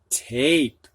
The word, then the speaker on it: tape: it we got same tap has a short a ah put an e on it and we've got tape long a a Jan has a